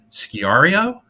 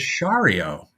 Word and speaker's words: Sciarrio: Here's how he spells it. Sciarrio. Now I said, right. Sciario, and he went, and told me it was Shario, which would be a